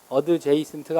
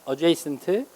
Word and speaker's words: adjacent: 그 다음에 여러분들한테 조금 어려울 수 있는 단어가 마지막에 나와 있는 adjacent라는 단어인데 adjacent예요, 발음이. adjacent가 아니라 adjacent. 얘는 어드가 방향을 가리키죠.